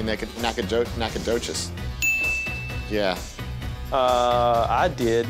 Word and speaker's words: Nacogdoches: I bet the G is silent. I bet you even said, like, let's throw a G in there, but let's not be able to hear it. So it's probably Nacogdoches.